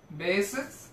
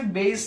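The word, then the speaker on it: Bayes: হবে সেটাকে আমরা বলি বেসেস থিওরেম একে বাংলা বইয়ে বেস এর সূত্র বলা যদিও উচ্চারণটা হচ্ছে বেইস থিওরেম সো বেইজ নামে একজন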